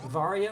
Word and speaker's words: Varia: And Zero is picking up the Varia or Varia suit, depending on how you like to pronounce it, which will provide some